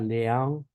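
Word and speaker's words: leão: Tenemos, por ejemplo, entonces la terminación AU, ¿sí? Eh, AU se pronuncia similar a AU, ¿sí? Por ejemplo, tenemos la palabra león, león, ¿sí?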